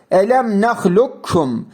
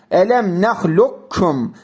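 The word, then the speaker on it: ألم نخلقكم: Elemlukum. Elemlukum. Sanki burada kaf arada kayboluyor gibi. Nahlukum. Kaf harfi kef harfine katılır.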